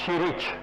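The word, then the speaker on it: Ćirić: is this ma this mathematician they pronounce chirich I went in Belgrad to give a homage to to Chili.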